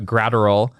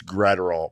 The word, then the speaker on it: Graterol: It was Evan Phillips, Alex Vesia, Brusdar Graterol, and Craig Kimbrell, right? Those are the 4 relievers that the Dodgers used in this game. It's Graterol, Bob Brenly. Yes. I think you said Graterol.